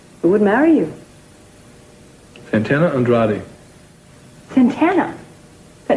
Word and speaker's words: Andrade: Andrade, that's right.